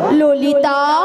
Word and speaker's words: ললিতা: মাসি লালাই লালাই নয় আর ললয় ললয় নয়। বলো ললিতা।